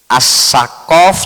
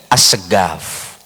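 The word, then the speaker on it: السقف: Eh, enggak bisa membaca qo bisanya go assaqof jadi asgaf.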